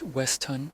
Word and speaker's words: Weston: Beatrice Carver, textile heiress, checked into the grandiose hotel Monday night under the alias Clara Weston, pronounced Westhun.